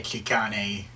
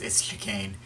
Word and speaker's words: Chicane: place you can't forget apologies if I end up pronouncing this guy key Connie I keep wanting to say it that way but it's askew cane okay you cane is